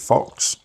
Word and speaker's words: PHX: use um company called I think you pronounce it Fox PHX just gets rid of